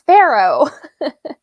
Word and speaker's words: FaRo: some of the authors no it's Pharaoh as in I mean I don't